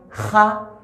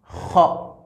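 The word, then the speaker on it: خ: Mais quand tu lis le Coran avec la lecture Hafs, il faut prononcer ça avec le son O. Donc on dit Kha, Kha, Kha.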